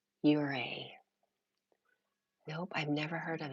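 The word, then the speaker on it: Ouray: No, it's pronounced Uray.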